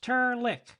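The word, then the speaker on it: Trlk: name is not fuzzy it's tarlik pronounced turn lick and spelled t-r-l-k my name's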